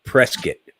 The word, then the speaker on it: Prescott: Watson Lake uh in Prescott Arizona you gotta say it right right Prescott Prescott by k-i-t okay okay uh but